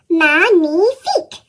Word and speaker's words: magnifique: Magnifique.